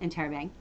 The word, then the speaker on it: interrobang: it is the enterobang so an enterobang can also be spelled in terabang and you really pronounce it in terra bang an interrobang looks like this it